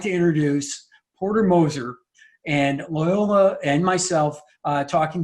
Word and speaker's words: Moser: It's Moser, not Mosier.